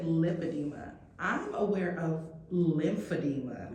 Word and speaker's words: lipedema: And they would say, "Oh, you mean lympadeema?" I said, "No, lipadeema." And I would have to spell it cuz I've been diagnosed with lipadeema. Lympadeema. Lip edema. Like edema.